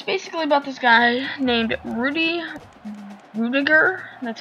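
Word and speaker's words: Rudy Ruettiger: movie but it's basically about this guy named rudy rudiger that's how you pronounce rudy rudiger and i kind of did my research on hasball's name but it's rudy rudiger and he's uh he went and goes to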